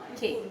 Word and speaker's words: porquê: The only difference is the circumflex, and the little Chinese hat. Accent on the wrong syllable.